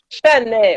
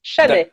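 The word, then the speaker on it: Chasnay: Chanay, ouais, c'est ça. On prononce pas le S. Chanay.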